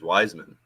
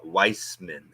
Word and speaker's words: Wiseman: for the longest time I called him James Wiseman and it was apparently actually subtly uh Weissman shut up yeah Weissman not Wiseman no yeah